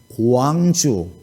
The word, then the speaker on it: 광주: 광주, 원주 이렇게 하라고 그러면 어떻게 말을 해요? 언주, 강주가 아니고 광주라니까요.